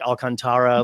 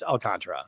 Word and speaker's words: Alcantara: this guy's name um because I've heard it three different ways like Sandy alcantra like Alcantara like it's like what is it they're like oh it's it's alcantra and it's like okay